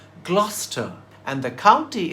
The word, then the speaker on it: Gloucester: So Gloucester rhymes with Foster.